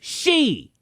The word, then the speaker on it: Xi: The man goes by President Xi, Roman numerals for 11. Oh, Lord. No, Felix, it's she.